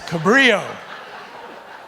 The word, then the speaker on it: Cabrillo: were confused by all ll that's how you pronounce it it's cabrillo general hides her and i mean this for